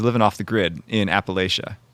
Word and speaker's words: Appalachia: off the grid in Appalachia or Appalachia how they pronounce it down there in like Eastern Kentucky